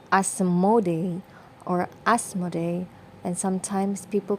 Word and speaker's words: Asmodeus: well even in dreams his name is sometimes pronounced as asmode or asmodei and sometimes people call him asmodeus or asmodeus whichever feels